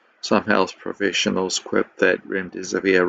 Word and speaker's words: remdesivir: Some health professionals quip that remdesivir rhymes with run, death is near.